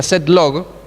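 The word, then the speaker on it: {log}: set log esto así el inventor de esto lo escribió de esta forma pero se pronuncia set log set por estos cabecitas de ahí de conjunto set lo que es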